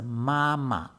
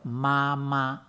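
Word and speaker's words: 妈妈: appearing twice is pronounced mama instead of mama the second ma is pronounced lightly and hurriedly to forced home character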